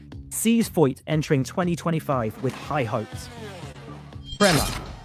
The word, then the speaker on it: Prema: Prema, and it is pronounced Prema.